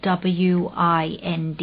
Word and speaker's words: wind: ก อ กั บ unwind unwind u n w i n d อ ย่ า ไ ป อ่ า น